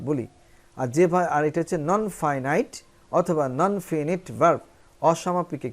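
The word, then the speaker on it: finite: এবার আসো, ভার্ব প্রধানত দুই প্রকার, একটা ফাইনাইট অথবা এর আরেকটা উচ্চারণ ফিনিট।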